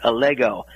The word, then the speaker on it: Allego: You did have the name pronounced correctly. It's Allego.